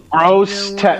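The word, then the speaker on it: Grosse Tete: I did say it right. Gross Tet.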